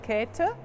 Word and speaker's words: Käthe: or Kathy Buchla but the German pronunciation is cater from coming from Catherine or Caterina she was born in